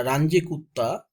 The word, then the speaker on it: Runge-Kutta: So friends, here I discuss third order Runge-Kutta method. This formula is third order Runge-Kutta method. So friends, I write some order of the Runge-Kutta method, that third order Runge-Kutta, yeah, Range-Kutta, different pronunciations, but no problem.